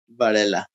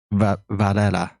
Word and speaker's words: Varela: Varela. Varela. Did I say that correctly? There you go. Varela. Hey, first try. you got it. Varela. You basically sound Mexican, man. Varela.